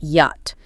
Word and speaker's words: yacht: Pronounced yacht. Yacht. The critical misfire here is that silent yach. If you don't know it silent, you'll almost certainly try to pronounce it as it looks like yacht.